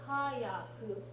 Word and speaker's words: hayaku: Not to be confused with hayaku, which is ha, full-size yaku, and that means quickly.